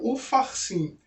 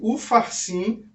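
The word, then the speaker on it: Upharsin: peixes ê passinho porque na hora da pronúncia a gente fala Mene Mene tequel ufarsim as diferenças estão aqui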